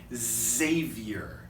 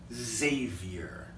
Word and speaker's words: Xavier: W, why, work, X, if it comes in the beginning, it kind of has a z sound. We have a university in America. It's called Xavier.